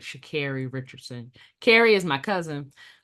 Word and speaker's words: Sha'Carri: Sha'Carri Richardson.